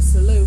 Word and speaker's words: Salute: There is a T on the end of there, but it's French, as is Avenir. So the Salute, the T in Salute is silent.